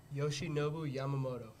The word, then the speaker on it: Yoshinobu Yamamoto: Yoshinobu Yamamoto.